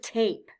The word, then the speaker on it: tape: and a silent E the final e is silent but it lets us know that the first vowel says its name it stands for a long vowel sound so if the E